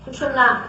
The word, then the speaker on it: सुषुम्ना: कोई सुषुम्ना कहते हैं, कोई सुषुम्ना कहते हैं, तरह तरह के इसके प्रोनाउंसिएशन है, लेकिन सुषुम्ना इसका सही माने में प्रोनाउंसिएशन है, जो कि आप मंत्र में भी उच्चारण कर सकते हैं।